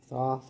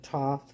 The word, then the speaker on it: Thoth: Thoth or Toth light codes, depending how you say it.